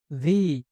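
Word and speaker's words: V: এরপরে ভি। এই উচ্চারণটা একটু, ভি এর উচ্চারণটা একটু ক্রিটিক্যাল। এটা বিও নয় বাংলার, আবার ভিও নয়, ব ভ দুইটার মিশ্রণ।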